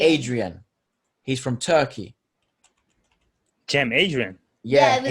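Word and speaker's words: Cem Adrian: adrian he's from turkey jim adrian yeah like it's spelled in turkish like sen like with that c and they're funny c e m and adrian okay c e m adrian yeah he's turkish but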